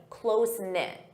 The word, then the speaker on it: close-knit: Close-knit. Notice that pronunciation, close-knit. This is an adjective that describes the family.